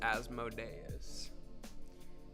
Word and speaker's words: Asmodeus: Let's see if, again, I'm pretty sure it's pronounced Asmodeus.